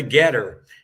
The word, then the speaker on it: GETTR: the most effective on Getter. So if anyone is on Getter, that's spelled GETTR, and it'll be at John